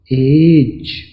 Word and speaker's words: age: तो यहां पर एज में ये जीम की आवाज निकलता है, और ई की ज़रूरत क्यों पड़ी? हालांकि इसकी कोई आवाज़ तो नहीं, लेकिन ये एच लफ्ज़ का हिस्सा है।